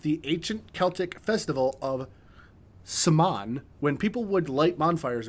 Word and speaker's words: Samhain: It is Samhain.